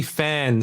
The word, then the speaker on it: Phan: right um it's actually fan so so just uh just like a you know a fan that's that's how I